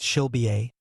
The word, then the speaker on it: Sulba: Way of introduction to the wisdom of Sulba, pronounced Shilbiye, received as an ongoing transmission during the workings of New Isis Lodge.